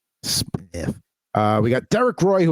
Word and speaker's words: Smyth: And it's not pronounced Smythe. Got right. Curtis Foster there. How do you have a Y and no E? Smith.